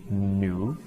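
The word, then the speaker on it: 女: And the pronunciation, the pinyin pronunciation is new, like new run, that means woman.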